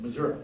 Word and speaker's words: Missouri: Missouri, I gotta say it like Harold Biswell would say it, Missouri.